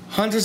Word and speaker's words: Hunter: I know, I'm gonna relate a freaking game to Hunter. Hunter, yeah. And yes, I really pronounce my T's. Notice that Hunter, I don't say Hunter.